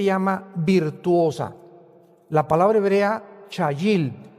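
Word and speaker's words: חיל: La palabra hebrea chayil. C h a y i l en el hebreo. Chayil.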